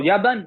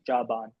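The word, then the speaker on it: يابان: Oh, yaban. That's how they say it. Yan. They don't say Jaban, they say Yaban.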